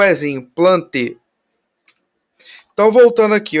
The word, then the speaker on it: Plantae: Só voltando aqui rapidinho, vocês devem ter reparado lá que eu não estou falando Plantae, eu não estou falando Felidae, porque a pronúncia, né, a gente não vai falar esse Azinho, né, que nem o Aedes aegypti, né, a Aedes aegypti.